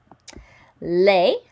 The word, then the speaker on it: les: Les does not sound like le or de or ne. It's les, rhymes with réparer.